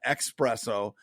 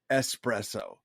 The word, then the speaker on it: espresso: an occasional espresso and say it correctly please it's not expresso its espresso sorry thank you very